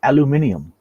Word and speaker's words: aluminium: know dementia from um aluminium I would assume aluminum it's aluminum I I prefer to use the uh the British pronunciation because I'm a a d they make everything sound a lot cooler they they got better